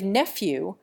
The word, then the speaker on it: nephew: We give nephew a clear F sound instead of the clouded English V sound, and we boldly nationalize